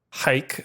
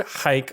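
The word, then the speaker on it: Huyck: it is directed by Willard hike spelled h-u-y-c-k we got a very lovely review from someone who did ask if we could try a little harder to pronounce people's names correctly so there I am going to make a concerted effort it was a very nice review uh so Willard hike I looked it up that's what it said and Gloria Katz produced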